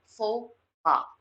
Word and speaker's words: faux pas: This is pronounced as faux pas.